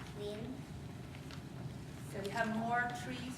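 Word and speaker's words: 林: It is pronounced lin.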